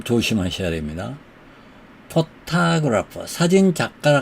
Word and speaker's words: photographer: photographer. 사진작가라 할 때 photographer는 이 오해가 액센트가 있습니다. photographer. 그런데 작가가 아니고 ER 빼버리고 photograph. 사진만 얘기할 때는 photograph만 얘기할 때는 맨 앞에 음절에 액센트가 있어요. photograph, photograph, photographer, photograph, photographer 이렇게요.